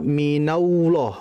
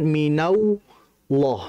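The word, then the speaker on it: مِنَ اللَّهِ: sering terjadi jadi jangan dibaca minallah minau minallah bukan yang betul Minal Minal minallah minalah bukan minauah hati-hati kadang ada tambahan wwnya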